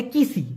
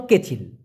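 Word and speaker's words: kecil: কেচিল মানে হলো ছোট অনেকে বলে কিসি না ভাই সঠিক উচ্চারণটা হলো কেচিল কেচুয়ালি মানে হলো ছাড়া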